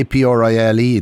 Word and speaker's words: Aprile: And everyone spells it D-E because they say it the way they spell it the way they hear it. Well, what about Aprile? A-P-R-I-L-E.